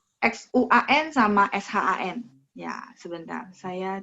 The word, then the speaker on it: Xuan: Ya, jadi kalau misalnya kayak X-U-A-N berarti bacanya Xuan. A-nya ada E ya.